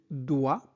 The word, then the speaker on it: dois: Je dois o I se prononce o donc je dois on ne prononce pas s je dois trouver.